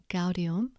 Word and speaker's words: gaudium: G is pronounced G as in goat unless it's followed by E or I when it's pronounced J, for example, gaudium, but egito.